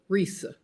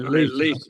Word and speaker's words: Risa: Risa. Okay, you're Yeah, all right, Lisa. Risa. Uh-oh. I know it's spelled oddly. Risa. Risa. Like Lisa with an R.